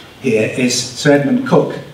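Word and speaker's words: Coke: And this gentleman on the right here is Sir Edmund Cook, spelled C-O-K, but pronounced Cook, who was a preeminent lawyer, and he lived from 1552 to 1634.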